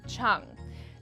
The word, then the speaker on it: Chiang: it's all about John Chung and yes it's pronounced Cheung John prides himself on being a fiscally responsible